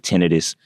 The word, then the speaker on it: tinnitus: So to backtrack a little bit, so I have what you call tinnitus. Some people pronounce it tinnitus.